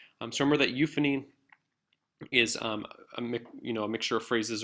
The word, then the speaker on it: euphony: And I'll go through them really slowly. It's euphony and cacophony.